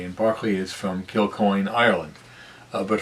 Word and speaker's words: Berkeley: david hume and george barkley and uh his name is spelled like berkeley but pronounced barkley and barkley is from killcoin ireland